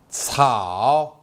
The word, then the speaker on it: 草: 草 Now let's learn the pronunciation of this character. 草 c 敖草草小草小草公园里有很多小草。